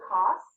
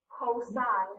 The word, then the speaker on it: cosine: with it to cos some people say cos again cosine is how you say it so same amount of